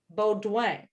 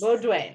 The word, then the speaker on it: Beaudoin: everyone who is tuning in today, this is, okay, I'm going to butcher the spelling of how your Okay. last, can you, Lillian Beaudoin. Beaudoin. Yes, French. Yes. Beaudoin.